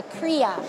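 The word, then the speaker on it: cria: question so a baby alpaca is called a kriya and that's spelled c-r-i-a oh look at that i didn't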